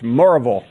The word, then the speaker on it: Maryville: uh local pronunciation of it's Marvel amen thank you and that's one syllable yeah one syllable are